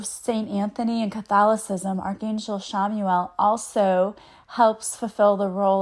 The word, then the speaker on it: Chamuel: we're going to talk about today is Archangel Shamuel. It's c h a m ue e l. I say that because it doesn't you wouldn't think that's how you would pronounce it, but it is. Um, Archangel Shamuel is the one who sees God and he